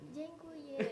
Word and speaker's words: dziękuję: Kita nyebut terima kasih tuh dziękuję. Zen, Dziękuję. jeng, Dziękuję. jengkuye. Iya, benar.